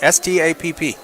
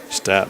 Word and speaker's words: Stapp: So how do you say it? S-T-A-P-P. Stapp. Stapp. Okay.